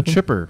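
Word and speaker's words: Xipper: But then it's actually just about a guy being put through a wood chipper. It's Chipper, but it's spelled X-I-P-P-E-R.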